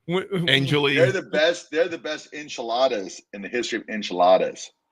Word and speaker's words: enchiladas: in the history of enchiladas first of all please pronounce it with enchiladas they are not an cheladas maybe these maybe these